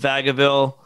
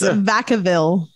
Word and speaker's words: Vacaville: i know like fairfield vagaville woodland yeah did i say that right it's vacaville vacaville it's i say it